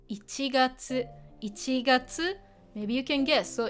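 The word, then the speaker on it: 一月: Now it's pronounced ichigatsu, ichigatsu.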